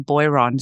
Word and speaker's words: Boiron: Now boy now I'm just going to say uh we in Australia we would pronounce the company name Beron.